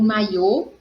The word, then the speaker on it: maiô: em férias tirou o maiô da gaveta investiu então a diferença maio mai ou então em maio a sílaba forte é mai em maiô no o acento circunflexo oxítona terminada em pó